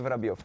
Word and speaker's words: Vorobyov: Alex, from Wikipedia, it says your real name is Alexei Vladimirovich Voroblyov. Did I pronounce that right? Obviously, that's right. Almost perfect. How do you pronounce your last name? Alexei Vorobyov, Vladimirovich.